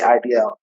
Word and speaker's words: Ideal: It's spelled Ideal, but they say IDL.